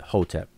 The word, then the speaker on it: Hotep: And today we pronounce that conventionally, we pronounce it Hotep.